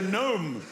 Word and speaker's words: gnome: And the gnome will be the symbol of Silent Letter Day.